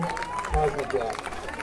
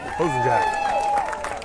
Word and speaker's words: Cosmojak: For Friday Harbor, Cosmojak. Closing Jack. Cosmojak. You said it right the first time.